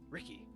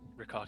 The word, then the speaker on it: Ricard: He kind of like shakes out of his mind palace and goes, "Ricky, Your name's long. that's not my name. Ricard, it's very short. It's 2 syllables.